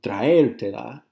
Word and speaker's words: traértela: So, traértela, the accent's on the E.